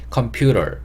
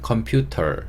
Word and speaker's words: computer: 알바를 붙이는게 좀 어려우시면 컴퓨터 컴퓨터 이런 식으로 그냥 t를 발음해 주셔도 됩니다 컴퓨터 혹은 컴퓨터 근데 컴퓨터 이거보다는 컴퓨터 약간 리을 발음 넣어 주시면 좋을 것 같고요 새 컴퓨터라고 하실 때